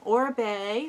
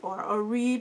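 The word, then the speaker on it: Oribe: of the bin was or Bay or reap I don't know how you want to say but I believe it's pronounced or Bay and he's a hairdresser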